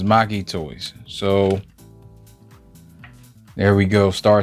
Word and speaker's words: Make Toys: uh make so it's make toys that's what everybody says but the chinese pronunciation is maki toys so there we go